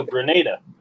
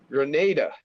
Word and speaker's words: Grenada: feeling this weekend oh Granada says or pronounced like grenade in the military okay oh Grenada Grenada okay yeah hey vmb